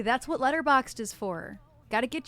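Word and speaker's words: Letterboxd: so that's uh so letter boxed it's basically it's spelled letter boxed but there's no E before the D at the end so letter box d letter boxed um it's an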